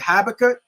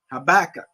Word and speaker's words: Habakkuk: know that what is it habakkuk habakkuk yup a backup two and two man yeah